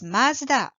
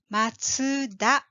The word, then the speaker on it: マツダ: Right, マツダです。The English pronunciation of this maker is Mazda, but in Japanese it is called Matsuda, like this.